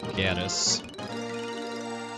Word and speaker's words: Gades: I've always said Gades, like Hades with a G. I know the voice acting in the DS remake calls it Gaddis.